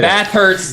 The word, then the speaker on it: Bathurst: Bathurst, Yeah.